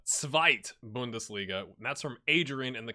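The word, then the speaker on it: Zweite Bundesliga: it and it's uh it's not the two bundesliga but the svite bundesliga that's from adrian in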